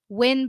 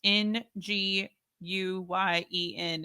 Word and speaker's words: Nguyen: would be Ba Vin Win, for example. Yeah. That's interesting. I don't think I would have ever pronounced Nguyen as Win. Yeah. So like you just fun ignore story, the NGU.